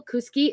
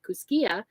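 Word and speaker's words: Kooskia: For those of you that are not local, Kuski is spelled Kooskkia. And I know it sounds like it should be Kuskia, but it is Kuski days. So that's how they pronounce it locally.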